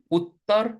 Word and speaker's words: Uttar: This double capital T just means like it means two things. First of all, we're going to pronounce it. We're going to pronounce like a dental T. So we're going to bite our tongue like this.